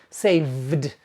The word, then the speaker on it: saved: The past tense is pronounced saved.